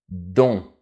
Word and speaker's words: dont: on va parler du pronom relatif dont attention on ne prononce pas la lettre T petite parenthèse j'ai déjà